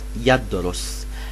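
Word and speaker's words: يَدْرُسُ: on your screen, and it is pronounced yadrus.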